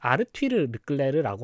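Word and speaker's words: Arthur Leclerc: 르클레르 선수의 친동생인아서 르클레르 이게 영어로 이름했으면 어터인데 이걸 약간 프랑스 식으로 읽나 그래 가지고 실제 발음은 약간 아르티르끌레르라고 합니다.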